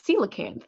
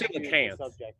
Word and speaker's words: coelacanth: It's not. There's no extra syllable there. It's coelacanth.